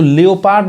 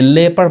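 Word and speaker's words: leopard: अब यहाँ देखिए, इसको लियोपार्ड नहीं पढ़ाएगा, ये लेपर्ड पढ़ाएगा, यानी यहाँ पे ओ साइलेंट है।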